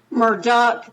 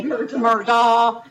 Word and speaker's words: Murdaugh: they call it Murdoch Murdock right they say Murdoch they say Murdock they say murder it's it's I think that when you get to a point in your life that you are so rich that you can make up your own phonics and then a